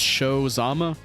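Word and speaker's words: Shou Zama: oh to be honest those shows not spelled like show show like s-h-o-w it's spelled s-h-o-u H so it's show Zama right watch panzero Galleon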